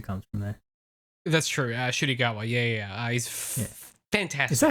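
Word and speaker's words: Ncuti Gatwa: Shudigawa, yeah. He's fantastic. Is that how you pronounce his name?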